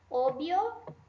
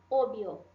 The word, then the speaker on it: obvio: La V, que é essa letrinha aqui, la V, tem som do B.